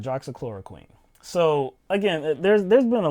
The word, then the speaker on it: hydroxychloroquine: So the drug I'm talking about is hydroxychloroquine. I believe that's how you say it. No, you guys said it right. Right, hydroxychloroquine.